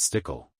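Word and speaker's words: Stueckle: Stadium's West Side called The stul Sky Club pronounced stickle construction began on February 11th 2007 and the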